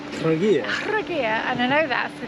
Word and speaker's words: Trogir: We've just rocked up at a place called Trogir. Trogir, and I know that's the case because I looked at it on Google how to pronounce it.